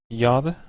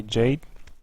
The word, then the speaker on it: Jade: a former teammate of Yad or Jade I don't know why I keep saying y it's like the yada yada ya the German pronunciation but you actually say Jade and he's also protest